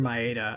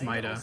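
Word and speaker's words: Maeda: change within aya and instead of myeda i think i say mayada here and it's it's mita as they say it later dark message yet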